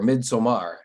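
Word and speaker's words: Midsommar: prepared watch the movie mid-summer uh or midsomar as it is more more as it more looks like at the way it's spelt it is an excellent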